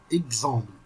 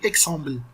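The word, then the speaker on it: example: بص كده، حرف الاكس بيتنطق زي جي وجنبها اس. يعني ازاي يعني؟ اكزرسيس هقول مثلا، حتى كلمة اكزرسيس دي تنفع. هقول مثلا اكزامبل، اكزامبل مش بقول اكسامبل، بقول اكزامبل. كأن الاكس دي اتحولت لحرف الجي والاس.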